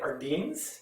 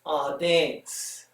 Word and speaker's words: Ardennes: And the mountain range was the, I want to say it Ardennes because I'm a Canadian, but it's Ardennes, okay? And it tells you Ardennes.